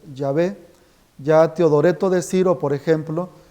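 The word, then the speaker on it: Yahvé: eso los diccionarios enciclopedias hablan de pronunciación errónea pronunciación incorrecta del nombre de Dios la pronunciación más precisa es yé ya teodoreto de Ciro por ejemplo conserva la expresión yavé San Jerónimo también que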